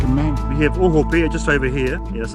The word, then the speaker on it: Ohope: So it's called ohope, to be hung by the hips. Oh, right. So Mark's got good pronunciation, and Ohope.